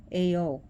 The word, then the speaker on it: Ao: His name was Ao, A-O, but pronounced Ao.